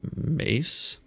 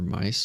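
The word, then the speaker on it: Myss: I've been listening to Carolyn, I think her name is pronounced Carolyn Mace, but it's M-Y-S-S. So I've been calling her Mice or Miss. I don't know, but I think it's Mace.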